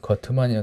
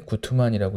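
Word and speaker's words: Guttmann: 이제 거트만이라고 되는데 구트만이라고 읽죠.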